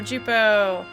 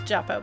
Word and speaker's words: Jupo: Oh no, Jupo. Who I always pronounce Juppo, but it's actually Jupo. I learned that. It's like, no! It turns out it is Jupo.